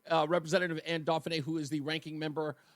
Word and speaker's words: Anne Dauphinais: I finally learned how to pronounce her name. Uh Representative Anne Duffany who is the ranking member on the legislaturator's committee on children.